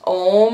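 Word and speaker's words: Ogham: this way as i pronounce this way it's pronounced ohm or ohm but everyone goes what if I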